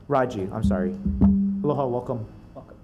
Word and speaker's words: Raji: Attorney General's office, from DCCA Consumer Protection is Raj Tolentino. I hope I pronounced your first name correct. Raji, I'm sorry.